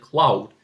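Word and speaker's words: Claude: interview their country's contestant, Cloud. And yes, that's how his name is pronounced in Dutch.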